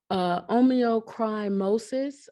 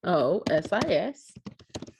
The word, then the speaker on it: onychomycosis: simplex 1, herpes simplex 2, herpes zoster, impetigo, omeocrimosis. I'm going to look that one up because that doesn't sound like I said it right. ONYCHOMYCOSIS.